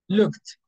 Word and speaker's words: looked: cooked yes it's cooked every time you see k at the end of the verb is going to be with tea because K doesn't vibrate here so it's a voiceless we use tea cooked looked called with